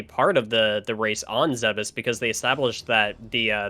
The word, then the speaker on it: Zebes: They've always said that the Chozo were believed to be extinct, and we've known that the Chozo on Zebes, and yes, it's pronounced Zebes, were wiped out during Mother Brain's incursion.